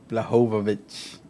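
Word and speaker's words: Błachowicz: Blahovovich. The L is silent, but sometimes we pronounce it anyway.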